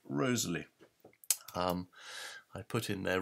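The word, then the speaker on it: Wriothesley: a visa finally let's just look at Henry Rosalee I mean his name is said to be pronounced Rosalee and there's a lot of evidence for that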